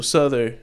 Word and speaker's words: Souther: It's pronounced Souther, not I heard someone say Souther.